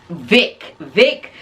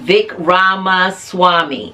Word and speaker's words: Vivek Ramaswamy: Vic. I can never say his name. Vivek Ramaswamy.